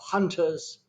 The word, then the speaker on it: Hunterz: who is the co-founder of hunters dot IO and that is spelled hu NT er Zi hello known hello Lillian